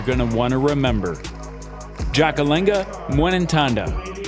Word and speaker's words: Ndjakalenga: to want to remember jackalenga muenen tonda four syllables in her first name and four in her last a silent nd in